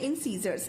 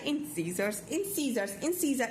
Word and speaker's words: incisor: अब हमारे सबसे पहले आए इंसीजर्स। इंसीजर का काम क्या होता है? कट करना। सीजर का काम होता है ना कट करना, और सीजर जैसी इसकी प्रोनाउंसिएशन है।